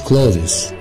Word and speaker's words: clothes: نمبر 20 او 20 الاثنين صح, ملابس مش clothes, clothes, clothes, clothes, clothes, مش هننطق الـ ES, clothes.